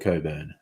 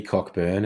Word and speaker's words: Cockburn: go strictly Sega there's a suburb in Perth called Coburn laughs he insisted on Codeine pronunciation shouted at him you're not the boss of me cockburn and he said you're